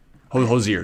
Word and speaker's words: Hozier: to mention to you josier hojir hozier you because even ty says i say wrong like no i promise you i'm saying it right that is the definite name but he has songs